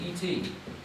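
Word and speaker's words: את: bar Elohim this word it's pronounced as an ET as an extraterrestrial yeah but it's not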